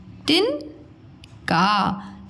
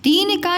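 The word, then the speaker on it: तिनका: तिन, तिन का, तीन का नहीं है, तिन का, इसलिए छोटी लगा, तिन का।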